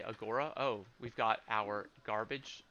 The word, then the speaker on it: agora: agora um and sorry i pronounced it the american way not the ancient greek way agora um we got through